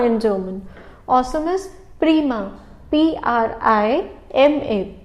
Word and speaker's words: prima: P-R-I-M-A. It's prima. Please note the pronunciation.